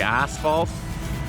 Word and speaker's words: asphalt: Asphalt, I guess is how people pronounce it, like asphalt. Anyways, we say asphalt here, like we pronounce the SH as a sh.